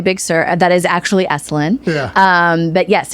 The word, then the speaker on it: Esalen: Esalen. Am I saying that wrong? No, you're saying it right.